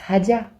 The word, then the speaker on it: Hadia: me regarde il dit votre prénom ça se prononce Hadya je lui dis oui